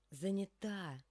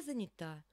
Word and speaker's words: занята: почему вас и ловят здесь занята на последний слог здесь падает ударение они занято Я занята вот сюда и километр